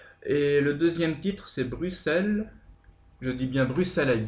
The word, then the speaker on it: Bruxelles: chanson exactement parce que on dit nous on dit Bruxelles oui mais en Belgique on dit Bruxelles voilà et en Belgique ils disent Bruxelles donc c'est une question de prononciationell Bruxelles en Belgique c'est BR r u 2 s e L S d'accord Bruxelles d'accord donc ça fallait